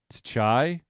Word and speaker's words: Tchia: It's TCHIA, so Tchai.